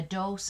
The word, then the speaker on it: dose: also be pronounced dos this word a quantity of medicine rhymes with gross his mother gave him a dose of cough syrup for